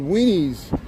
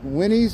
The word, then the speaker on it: Winnies: It's called It's called W It's called Wenies. Is that how you say it? Winnies. Winnies. It's called Winnies.